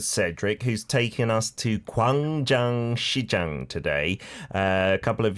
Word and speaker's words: Gwangjang Market: Dionis, we're back for part two of Cape Patch with Cedric, who's taken us to Kang Jang Xi Jang today.